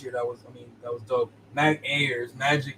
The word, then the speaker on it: Ayers: Like I got this air, and then I got some more of this air, so it's Ayers. But it's saying like air.